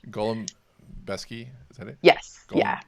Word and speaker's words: Golembiewski: your last name uh Gollum besy is the way we have Americanized the pronunciation of it Golem besy is that it yes